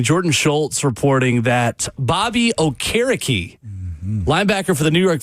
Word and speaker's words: Okereke: And everybody thought it was Okereke when he came out. And, of course, he's one of these really nice fellows. It's like, no, it's really Okereke. It's like, oh, man, dude, I would have pronounced it correctly.